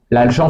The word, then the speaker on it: gent: là-dedans donc pour conclure l'agent se prononce bien l'agent et non pas l'agente hein c'est pas l'agente de